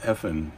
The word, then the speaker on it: Evelyn: talking about a show on a documentary on Netflix that's called Evelyn, but it's pronounced Effin, she says.